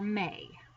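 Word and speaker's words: mes: But in order to say my, there are 3 ways, and it is mon, ma, or may. That's how you pronounce them.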